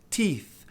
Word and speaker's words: teeth: Note que quando a gente tem dois E's em inglês, o som é I. Um I longo, tem até que dar um sorrisinho para pronunciar. I. Então é tooth, teeth. Teeth. Tá vendo que eu tô sorrindo? Teeth. Senão fica estranho. O som não vai sair correto.